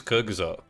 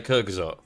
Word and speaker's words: Kyrgyzstan: How do you pronounce this? Kyrgyzstan. Kyrgyzstan. Correct me if I'm wrong. I believe it's Kyrgyzstan.